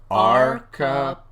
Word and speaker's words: archipelago: It has 5 syllables, one for each of the fingers on your left hand, Matthew. Say it slowly, emphasizing the first and third syllables. Archipelago.